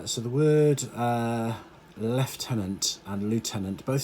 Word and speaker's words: lieutenant: In British English, we call it lieutenant. In American English, they call it lieutenant. Lieutenant is kind of how it's spelt, so that's the kind of phonetic way of saying it, but we say lieutenant.